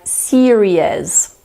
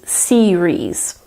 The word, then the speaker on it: series: fourth word is series some people try to add an additional vowel sound in there so they'll say something like Syria's but you have to remember that there are only two syllables in this word so it is series what also confuses some